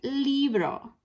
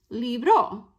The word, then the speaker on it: libro: So if it ends in a vowel, right, it tells us our stress, that emphasis, is on the next to last syllable. So that means we pronounce it libro, not libro, right?